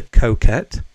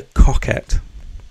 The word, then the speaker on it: Coquette: I'm sorry guys but this is not the Coquette or the Coquette as I've heard it pronounced it's the cockette you know [ __